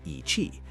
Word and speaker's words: Yi qi: Meet Yi qi, pronounced ee-chee.